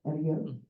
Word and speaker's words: Aguirre: acquired, did I pronounce it correctly? Aguirre? Aguirre.